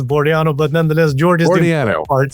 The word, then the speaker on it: Bordianu: You got it almost right. It's it's Boraniano, but nonetheless, George is part.